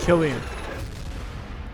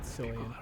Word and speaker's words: Cillian: Killian. Not Cillian.